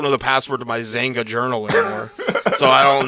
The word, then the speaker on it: Xanga: You had a Zanga journal, spelled with an X, XANGA.